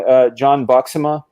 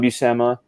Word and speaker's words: Buscema: I am known to butcher the name. When I was a kid, his name was John Buxema, not John Buscema.